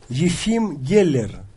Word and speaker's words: Geller: was against Yim gella I'll just play the pronunciation on chess gamc Yim Geller Yim Geller Yim Geller okay so who was